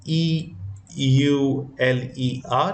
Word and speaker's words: Euler: out it was found by a mathematician called Euler is a name is written as e u l e r which is pronounced as Euler in general is a famous